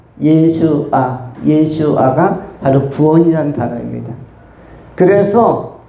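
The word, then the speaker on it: ישוע: 더 어 구약적인 발음으로는 예수아. 예수아.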